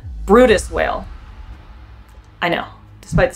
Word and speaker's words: Bryde's: 9 times, it's definitely Brutus whale. Brutus whales are extremely rare, and their name is incredibly hard to pronounce. Not phonetic.